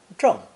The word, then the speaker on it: 正: It's pronounced fourth tone, zheng.